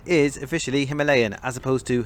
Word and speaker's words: Himalayan: i'm based in the uk and the british pronunciation is officially himalayan as opposed to himalayan and that's what i'll be sticking with for